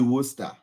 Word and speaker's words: Worcester: would probably read that is it Worcester yeah yeah it's actually Worcester um we have so